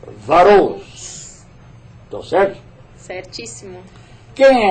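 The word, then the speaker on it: Wachholz: Vai aparecer aí o nome dela e escreve com W-A-C-C-H-H-O-L-Z. Mas a pronúncia eu perguntei para ela. É Varous.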